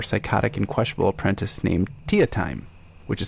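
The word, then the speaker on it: Teatime: to their more psychotic and questionable apprentice named Tia time which is spelled tee time d'Italia me Tia timing that's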